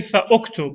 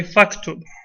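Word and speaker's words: فاكتب: We won't say fa'uktub. We'll say faktub.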